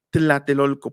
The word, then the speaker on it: Tlatelolco: los aztecas no pronunciaban Tlatelolco, pronunciaban Tlatelolco, Tlatelolco. O sea, dejamos fija la lengua y con los lados de la lengua decimos tla, y los españoles lo transcribieron como TL.